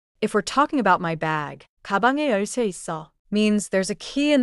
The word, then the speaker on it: 있어: Is written 있어. But it sounds like 있어.